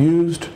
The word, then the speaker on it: used: this expression, used to, you want to make sure you enunciate it. Used, duh. It ends with a D. Used. And then you say it quickly, used. But it has to have that D sound at the end of it.